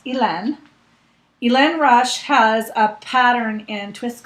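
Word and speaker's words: Hélène Rush: by ilan rush and i looked up how to pronounce her name because i wasn't sure she's french she lives in maine but she's french and it's ilen elaine rush has a pattern in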